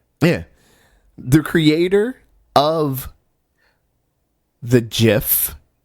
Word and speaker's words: GIF: quote they are wrong it is a soft G pronounced jiff end of story I'm rolling with Steve on this one you my folks you know Sen Steve it is not gift it is jiff you